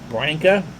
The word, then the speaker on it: Branca: is all for one branca rhymes with sanka wines and deals there's